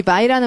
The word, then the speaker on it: vie: 이 vie라는 말 되게 멋있는 단어인데. 자, 발음 vie. 이 vie가 바이하고 엄청 다르죠.